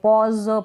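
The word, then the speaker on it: pause: है ठहराव रुकना तो इसको भी पॉस नहीं पढ़ेंगे पॉज पढ़ेंगे यानी यह ज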